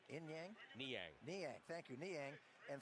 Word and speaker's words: Niang: Niang, how do you pronounce that name? Niang? Niang.